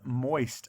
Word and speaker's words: moist: Of course, there's that oi in the middle of the word or syllable, and it's spelled O-I.